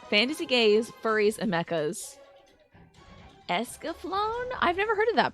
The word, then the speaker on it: Escaflowne: Escaflowne is how it's said.